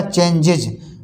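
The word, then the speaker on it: changes: इसी तरह से चेंज, CHANGE, चेंज, यहाँ देखो जा का उच्चारण निकल रहा है, जब हम इसमें एस जोड़ देंगे तो हो जाएगा चेंजेज।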